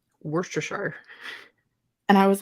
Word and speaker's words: Worcestershire: I remember an episode of Diners, Drive-Ins, and Dives where one of the cooks called it wash your sister sauce. Stop it. That's way worse. Worcestershire.